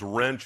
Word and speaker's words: Wrench: is bob last name's wrench it's pronounced like the tool easy way to remember